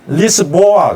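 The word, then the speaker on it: Lisboa: 리스본을 포르투갈 사람들이 뭐라고 하는지 아세요? 리스본 아닌가요? 아니에요. 리스보아 그래요. 리스보아. 그러니까 이 사포아는 리스보아에서 리자 빼고 스보아예요.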